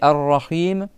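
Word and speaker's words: الرحيم: Et là, c'est pareil rahim, tu as le ro que tu doubles et tu dois prolonger le i avec le ha. Et c'est pasim, d'accord ? Rim en arabe, c'est pas le même sens que Rahim.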